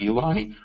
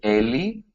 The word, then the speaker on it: Eli: I understand pl/i sounds like Eli but it's really a li because it's short for Eliyahu which is Elijah alright so so if you want to call me Ellie or dr.